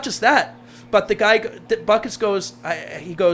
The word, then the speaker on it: Butkus: Not just that, but the guy, Butkus goes, the guy must have been Lithuanian like I am because he pronounced my name right.